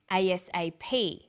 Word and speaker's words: ASAP: is pronounced separately but the last letter is pronounced more strongly because it carries the primary stress so we say USA ASAP ABC and TV listen